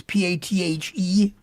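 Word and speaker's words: Pathé: The big one that seems to do most of the work is, and I always wonder if I'm pronouncing this correctly, Pathe. It's Pathe.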